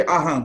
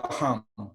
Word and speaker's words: Aham: Tibetan always said Atma Ko Aham. We never say Ah there. So supposed to be Aham. Yeah, so correct pronunciation should come that way.